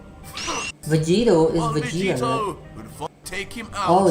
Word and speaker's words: Vegeta: So it's not Vegito, it's Vegeta. Arch is just mispronounced.